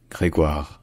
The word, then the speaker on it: Grégoire: the country at the time his name is pronounced greguar cand gregar kayanda gregar c k all right if you